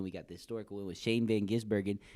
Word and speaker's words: Shane van Gisbergen: tire barrier then we got the historical with Shane Van gisbergen said it right again ow ow are we